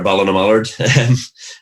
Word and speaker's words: Ballinamallard: I'd been doing quite well for my local team, which you brilliantly pronounced there, Ballinamallard.